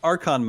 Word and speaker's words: archon: boss very cool let's move on to uh archon modes and i guess first of all am i pronouncing that correctly you are okay perfect nailed